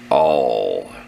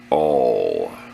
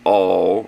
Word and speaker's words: awl: Awl. You can pronounce it awl. Not all or owl, it's awl. See how words sound the same?